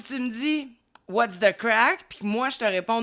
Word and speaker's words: craic: Puis non le crack c'est prononcé crack. Mais c'est pas de la drogue. Ça s'écrit C R A I C.